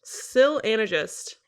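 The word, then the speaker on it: Syl Anagist: the sil Sil anagist Sil anagist is how the audiobook reader pronounces it this is how we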